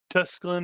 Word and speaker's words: Tusculum: And Tusculum it is.